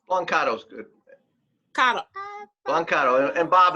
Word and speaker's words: Blancato: Did I pronounce it correctly? Blancato's good.